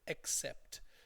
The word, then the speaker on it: accept: our students tend to sometimes they accept it and over pronounce the a like an O so accept so while I accept